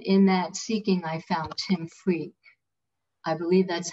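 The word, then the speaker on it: Tim Freke: And in that seeking, I found Tim Freak. I believe that's how you pronounce his name. You did a video with him. Yes, Tim Freak.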